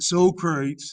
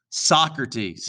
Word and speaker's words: Socrates: true philosophy circle c socrates no it's not soul crews if you ever watch bill and ted's most excellent adventures they will call him uh or socrates socrates is how you pronounce it now socrates believe that